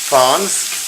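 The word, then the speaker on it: fonds: That's called fons, if it's spelled F-O-N-D-S.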